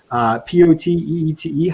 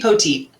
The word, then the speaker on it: Poteete: So anybody that would like to get in there, please send an email to ac.podcast Poteete. How do you say that last name? AC Poteet.